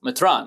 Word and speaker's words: metran: metrop metr Metropolitan um how do you say Bishop in uh uh surth it's like Metra Matan metran yeah so you know there